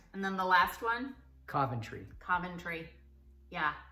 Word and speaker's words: Coventry: then the last one Coventry Coventry yeah I never hear America and say that right we always say Coventry or something like Coventry Coventry it's a Coventry okay very strange yeah